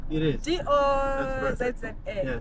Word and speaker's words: Dozza: Is that how it's pronounced? It is. D-O-Z-Z-A. Yes. Dozza.